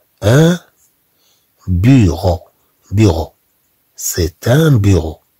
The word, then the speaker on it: bureau: C'est un bureau, bureau. Ro, ro. E, A, U se prononce O.